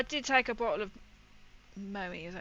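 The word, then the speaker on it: Moët: I did take a bottle of Moe, is that how you say it? Moet.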